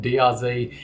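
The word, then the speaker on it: DR-Z: annoyed the fact that I was mispronouncing drz and it should actually be drz if I call myself an Australian so for all of you guys out there that commented on my particular pronunciation of the our Zed here you go dr z so the next question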